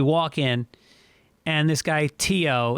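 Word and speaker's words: Theo: in and this guy teo it's spelled t-h-e-o but you pronounce it tio in ireland he sees us and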